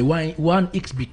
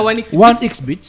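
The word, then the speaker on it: 1xBet: c'est pas OneXBet. Non, c'est OneXBet. Bien, d'accord. Bet en anglais comme le betting.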